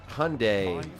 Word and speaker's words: Hyundai: Here in Georgia, they call it Hyundai, like it's the day of the week or something.